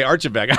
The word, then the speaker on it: Archibeque: last name for me would you yes ok Archibeque I was afraid yeah we weren't smart enough to pronounce it correctly yeah Laura we saw your